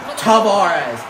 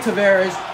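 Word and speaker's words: Tavares: folks I'm dangerous I'm if you guys say toar you're wrong there's a video from Sports from the man himself John tarez saying that the correct pronunciation is John Tavarez so if you say tarz you're incorrect so I hate when I hear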